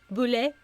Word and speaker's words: bulette: effect like everyone's like here's your pronunciation we're settled it's boule we're good Francois the